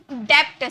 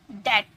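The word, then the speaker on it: debt: डेप्ट, सब बोलते हैं डेप्ट, है ना, ऐसे हम बोलते हैं डेप्ट, डेप्ट नहीं, डेट, डेट, डेप्ट नहीं बोलना है, ओके।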